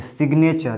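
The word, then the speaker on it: signature: यहाँ पर देखिए सिग्नेचर, यहाँ पर भी जी का उच्चारण ग हो रहा है, लेकिन यहाँ पर नहीं होता था।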